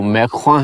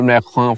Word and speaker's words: Macron: کہ down with میکرونزم۔ ویسے یہ جو ان کا نام ہے انگریزی میں لکھنے میں میکرون ہے، لیکن میرے خیال میں جو اس کا تلفظ ہے فرانسیسی زبان میں وہ میکخواں ہے۔ اگر ایسا نہیں ہے